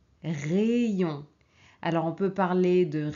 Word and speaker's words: rayon: Alors ici, on ne prononce pas aïe, on prononce ei. Ok? Pays, pays, paese. Essayez, essayez. Provare. Rayon, rayon.